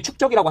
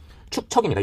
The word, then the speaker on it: 축척: 예전에 축적이라고 한번 기출돼가지고 이 문제가 다 통과가 된 적이 있었죠. 축척입니다. 이 발음하기가 어렵습니다. 축적이 아니라 축척.